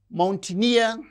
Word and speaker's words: mountaineer: And these words, mountaineer, engineer. So, words that end with uh the suffix near receives stress on the suffix itself.